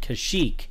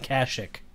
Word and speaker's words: Kashyyyk: the general populace when everybody is calling it Kashyyyk you don't go turn around calling it Kashuk cuz that's just wrong that would be like